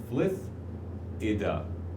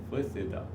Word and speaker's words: Flithida: So the pronunciation is Flithida. Flithida.